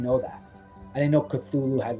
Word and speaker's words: Cthulhu: I didn't know Cthulhu had like a human form at the back. Yeah. Oh, yeah. HP Lovecraft said, "You'll saw you pronounce it with your tongue held to the top of your mouth."